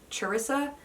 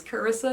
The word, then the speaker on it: Carissa: I've heard it also pronounced Charissa, but the way I would pronounce it is Carissa, so that's what I'm saying.